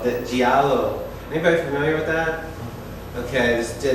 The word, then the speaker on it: Giallo: whole genre of movies that how do you pronounce that? Giallo. The Giallo.